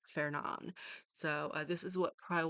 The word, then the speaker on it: Fernand: So, according to Google, uh, the English pronunciation will be fair. So, it would be fair. Um, so we don't start it with fur. So it's Fernon.